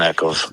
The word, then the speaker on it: Eccles: And that was how do you pronounce his name? Eccles? Yeah, Justin Eccles.